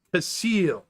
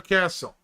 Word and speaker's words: Casil: It's Casil. See, like this. Casil. Never castle. Common mass mispronunciation that irritates the natives.